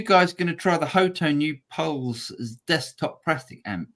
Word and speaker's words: Hotone: Is it Hot Tone? Yeah. Well, it's only one T, mate. I'm English. Yeah, I've got to pronounce they should just spell it correctly. I know, but It's Hotone. It's definitely Hotone in my world.